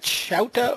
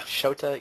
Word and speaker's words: Shota: Is it Shouta or is it Shota? Yasaoka. Shota Yasaoka. Yeah, I haven't. Okay. I know I've gotten the number of syllables wrong, if that's the case.